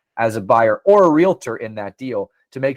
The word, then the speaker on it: realtor: when you become a realtor, and that is how you say it. It's not realtor, by the way. We'll just throw that in there for everyone out there that doesn't pronounce it correctly.